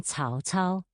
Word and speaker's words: Cao Cao: C, as in Cao Cao, is pronounced like the TS in its.